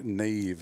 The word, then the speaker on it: Nave: Yep, Nave. So the V is just pronounced V, right? So Nave. Got it. One syllable, single syllable.